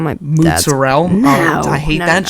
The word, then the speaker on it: mozzarella: You don't have to say it with the accent. Just read it. Speak it. Mozzarella. If you say it like that, no one gets mad at you. If you say mozzarella, It's because where's the rest of the letters?